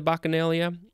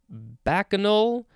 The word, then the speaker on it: bacchanal: who participated in the bacchanalia i don't know um but next we have bacchanal or i guess the uh lots of different ways to pronounce this bacchanal bachinol bacchanal bacchanal different forms b-a-c-c-h-a-n-a-l it is the